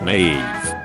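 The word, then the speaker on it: Niamh: pronounced Ashlin K is pronounced K naom is pronounced naive sinid is pronounced chenade soas is pronounced suha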